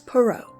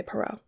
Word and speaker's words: Perrault: Blue be by Charles perau and yes that is how you say perau once on a time